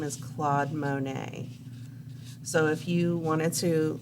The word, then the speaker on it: Monet: his name is claude monet so if you wanted to look up his pictures like on google his last name is spelled m-o-n-e-t so it looks like monette but it's pronounced monet and he's got some